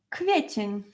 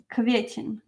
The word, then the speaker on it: kwiecień: So this R with Z is pronounced as Ż. Marzec. March. March. After marzec we have kwiecień.